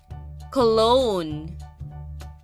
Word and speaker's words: cologne: bone the dog noded at the big bone cologne c o l o g n e let's spell that again c o l o g n